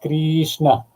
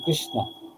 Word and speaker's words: Krishna: Swami told me, it's not Krishna, you're spoiling the pronunciation and thereby you're spoiling the meaning. And he told Krishna. It has to be Krishna.